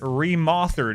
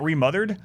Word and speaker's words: Remothered: And that game is Remoththered. And you might be saying, Adam, why do you pronounce it Remoththered? Isn't it Remothered? No, it's Remoththered.